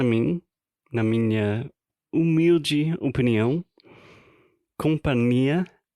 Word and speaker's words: companhia: na minha humilde opinião, companhia aérea deve ser companhia, porque tem, na verdade, nh. Então o companhia que a gente tá falando em questão se escreve C M de Maria P a N I e a né? Então esse NH no meio deveria ser companhia.